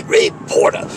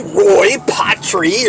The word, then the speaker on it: Ray Porter: best wait a minute you didn't even say his name right if you're going to give somebody credit say Ray Porter don't say Roy potri or Petri or whatever you are doing I got you to